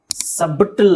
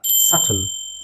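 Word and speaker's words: subtle: doubt next ಇದು ಅಷ್ಟೇನೆ B silent ಸಬಿಟಲ್ ಅಲ್ಲ ಸಟಲ್ ಸಟಲ್ ಸಟಲ್ ಇದು ಎಸ್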